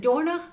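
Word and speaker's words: Dornach: It's in Dorna? Yeah, perfectly pronounced, Lynda.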